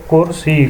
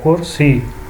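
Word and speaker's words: کُرسی: وہ ہے آپشن اے، کرسی، کاف کے اوپر پیش ہے، سین کو نیچے زیر ہے، کرسی۔ اگلا سوال نمبر 4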